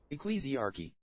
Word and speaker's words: Ecclesiarchy: Ecclesiarchy.